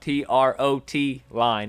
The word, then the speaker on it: trotline: online and look up t-r-o-t line it is a trotline it's a method of fishing if you've called it a trout line in the past let's start calling it a trotline now so you can sound